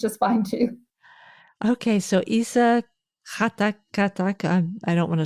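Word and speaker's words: Esa: His first name is Isa. Isa. Isa, which is the Arabic version of Jesus.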